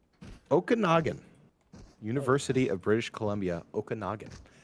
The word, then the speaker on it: Okanagan: Oh, Okanagan. Yeah, that's right. That's how you phonetically say it. Okanagan.